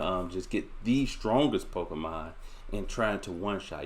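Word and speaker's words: Pokémon: i hope and finally number 10 is correcting pronunciation we have all heard someone refer to pokemon as pokeman or pokemans and you gotta call him out on that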